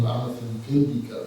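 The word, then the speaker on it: Anāthapiṇḍika: We also pronounce his name Anathapindika, but we're all trying to get better at our Pali.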